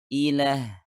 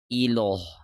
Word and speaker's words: Allah: oleh kasroh atau tanwin, kita membaca huruf lam pada kata Allah dengan lebih halus. Atau dalam istilah kaidah tajwid, huruf lam tersebut dibaca tarqiq atau tipis. Seperti ketika kita berkata lila, jadi kita membacanya ilah, bukan iloh.